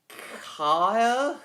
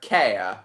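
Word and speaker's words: Cahir: Car. Care. Care.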